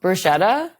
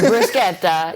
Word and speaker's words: bruschetta: Oh, bruschetta. Yes. See, no. Oh, brusqueta.